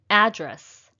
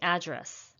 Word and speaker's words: address: nobody except me but if it's a noun it should be address and if it's a